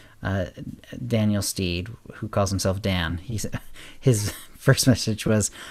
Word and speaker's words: Dan: Steed, who calls himself Dan. His first message was, "I'm Dan, like Dantooine, but the tooine is silent."